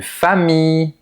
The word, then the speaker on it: famille: Généralement, les mots qui contiennent i l l se prononcent i. Par exemple, une fille, une famille, Guillaume, et cetera. C'est comme la I mais qu'on prononce légèrement plus longtemps.